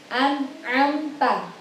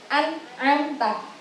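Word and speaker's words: أنعمت: Jadi kita bacanya harus an'amta. Nggak boleh an'am, salah. Itu ada nun mati bertemu ain, berarti an'amta.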